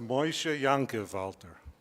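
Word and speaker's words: Moshe Yankev Alter: moses jacob alter which in hebrew would be moshe ya'akov alter and the near issue would be pronounced moisha yankevalter he has the distinction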